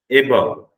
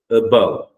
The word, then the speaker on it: above: A few people said above. A sound varad. It's not an A sound, it's a. Above.